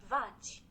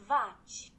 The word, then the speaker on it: vaci: kind of right, but the pronunciation is totally different. Vach. Okay, so this might be the kind of same thing that happens in Italian when there's an I after a C, it goes to the Vach.